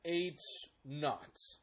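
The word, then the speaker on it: H₀: zero as a subscript we pronounce that H naught H naught so the null hypothesis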